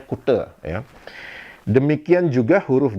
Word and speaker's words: Kuta: seperti t di Bali kuta diucapkan sebagai kut atau kalau orang Bali nyebutnya kute ya.